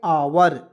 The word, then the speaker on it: our: नहीं बिल्कुल दिक्कत होगा अब मान लीजिए आवर को ओवर पढ़ेगा नाउ को नोई पढ़ेगा